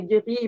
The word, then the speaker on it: gris: Donc, c'est gris, mais gris, ben, on ne prononce pas le S, mais grise, le S va être prononcé, etc.